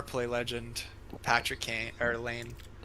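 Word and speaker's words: Laine: Patrick Kane or Lane? See, I got too. You want Do you want know Do you want to actually pronounce it? Huh? Line.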